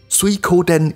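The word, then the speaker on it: 水滸伝: in the previous episode water margin pronounced as suikoden in japanese was very influential in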